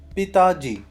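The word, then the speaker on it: पिताजी: So in Hindi, father is called Pitaji.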